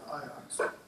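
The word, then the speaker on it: Ajax: Netherlands uh and spent a few weeks at iox AJ ax it's pronounced iox which is you know maybe the best soccer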